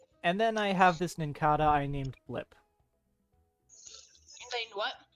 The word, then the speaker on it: Nincada: Nincada, I think it's pronounced. Nincada like cicada.